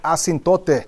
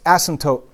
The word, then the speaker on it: asymptote: Now, the word asymptote, do not pronounce it asymptote, right? It's asymptote.